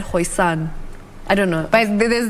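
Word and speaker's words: Xhosa: Well, there's so many, but I think it's Hosa.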